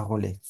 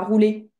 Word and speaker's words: rouler: À roulet. Pas pas roulette. À rouler.